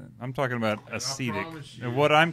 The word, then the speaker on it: acetic: Yeah, acetic, not acidic. Acetic. I thought you were saying acidic before.